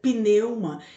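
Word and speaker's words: πνεῦμα: tem no antigo testamento em grego a palavra espírito se pronuncia pneuma e significa vento assim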